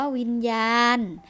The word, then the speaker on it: วิญญาณ: หนู เช่น กัน ค่ะ คำ ว่า วิญญาณ นะ คะ นอน เอน เป็น ตัว สะกด ค่ะ แต่ ออก เสียง เป็น นอ หนู เช่น กัน ค่ะ คำ ว่า